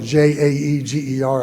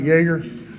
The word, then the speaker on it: Jaeger: making their Jaeger rifles Jaeger rifles pronounced spell j-a-e-g-e-r I think I'm pronouncing it am I pronouncing it right Jaeger okay anyway well the